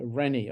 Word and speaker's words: Reni: RENI. Okay, RENI. So Roger, England, Nancy, India. India, correct, yes. Rennie, okay. Rennie, yes.